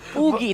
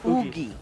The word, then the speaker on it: Oogie: So It's Oogie, by the way, not Woogie. It's Womi Shadow Kill. Womi Shadow Kill. No, Oogie, that's 2 O's. Oogie. But it's spelled O-U, right? Yeah, so there you go.